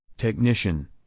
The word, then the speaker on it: technician: h t did you Circle GH number eight technician technician te e c h n i c